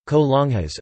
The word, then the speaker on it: colonias: In general, colonias (Spanish pronunciation: colonias) are neighborhoods in Mexican cities, which have no jurisdictional autonomy or representation.